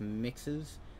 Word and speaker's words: MXES: entity of the digital manifestation of mxes pronounced mixes security program a security